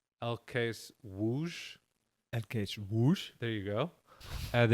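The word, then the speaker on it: ŁKS Łódź: l k s l o d z it's pronounced l case whoosh whoosh there you go and it's a very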